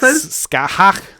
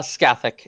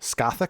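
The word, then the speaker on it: Scáthach: Scahawk. Future waifu. Future waifu. Anyway, you you fight uh Lolita Harlequinn. Uh, and that is a battle. Uh, Scathic is the pronunciation. I have just checked. Scathic.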